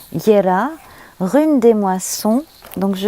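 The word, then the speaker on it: Jera: la rune qui s'appelle ya si ma mémoire est bonne attendez que je retrouve oui c'est ça donc ça s'écrit j e r a ça se prononce visiblement ya rune des moissons donc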